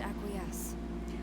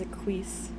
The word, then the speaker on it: acquiesce: seems that i must acquiesce what that's how you pronounce the word acquiesce my lord all this time i've been reading it as a quiz i love their dynamics